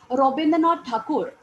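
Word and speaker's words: রবীন্দ্রনাথ ঠাকুর: Rabindranath Tagore, in Bengali, he was renowned as Rabindranath Thakur. Okay, the pronunciation goes that way.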